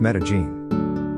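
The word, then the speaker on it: Medellín: to go is made in Colombia which is pronounced Medellin I also heard that Vietnam is good for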